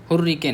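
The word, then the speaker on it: hurricane: हुर तो ठीक है। रे नहीं होगा। री होगा। हुर रीकेन होगा। ठीक है? रे नहीं बोलते हैं हम लोग। सभ्य आदमी री बोलते हैं।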